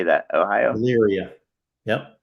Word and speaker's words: Elyria: Elyria. Yep. Elyria, yeah.